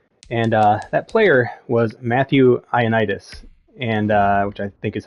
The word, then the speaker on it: Ioannidis: And that player was Matthew Ioannidis, and which I think is how you say his name.